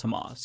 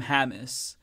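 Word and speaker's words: Hamas: beginning of this conflict he didn't even know how to pronounce himos he had never heard anyone say it he was say calling them hamus and I pointed that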